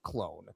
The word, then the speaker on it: Clon: It's CLON. There's no E, but he does pronounce it clone. At least Tony does.